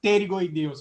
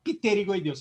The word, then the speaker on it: pterygoideus: lateral que lembrar que em espanhol o pé mudo Você não vai falar te ligo aí Deus você vai falar sério eu vá pterygoideus fala perigoso tá então só para ficar